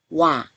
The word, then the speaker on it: 와: 오, 아, 와. 오, 아, 와, 와, 와, 와. 오, 아를 빨리 발음하면 와가 되지요.